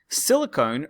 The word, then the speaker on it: silicon: Silicone, written with an E, not the metal silicon, but silicone. They actually, to be honest, they're both pronounced silicon, but I pronounce it silicone to help you remember.